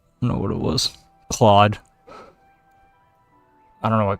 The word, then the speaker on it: Claude: Claude. I don't know what Claude is, but Cloud. I don't know how to say it. Pretty sure it's Claude. Although not CLAWED. Not that kind of Claude. CLAUDE.